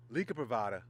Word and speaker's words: Liga Privada: let me say it correctly drew a stake Lika privada t52 in the Flying Pig if you're not